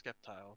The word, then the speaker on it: Sceptile: noise but like with skeptile it's sceptile because it's just skeptical um superior and superior